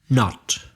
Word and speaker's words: knot: Knot. Can you spell knot? K-N-O-T, which is exactly the same pronunciation as the negative not, N-O-T.